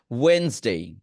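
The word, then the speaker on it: Wednesday: Just D এর উচ্চারণ আমরা করব না।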